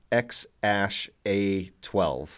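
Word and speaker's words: X Æ A-12: Apparently, the A-E symbol thing is pronounced Ash, so it's X-Ash A12.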